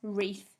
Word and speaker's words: wreath: spelling number nine was wreath w r e a t h silent w at the start of that one again could you mark